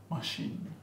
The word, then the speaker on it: machine: However, there are quite a few words with the ch spelling that are pronounced as sh, chef. Pronounced sh. Sh, chef, machine, mustache.